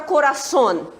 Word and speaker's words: coração: Qual é a sílaba forte aqui, hein? Son. Não é isso? Ela tá onde? Ela é a última sílaba.